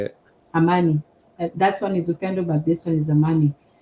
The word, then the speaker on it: amani: Amani, that's how you say it. Amani.